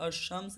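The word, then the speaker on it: الشمس: दोस्तों जब हम लोग अशम्स कहते हैं तो यहाँ पे जो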